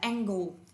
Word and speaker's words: angle: Vậy từ đầu tiên đọc là angel, nhưng từ hai nếu đổi đọc là angle.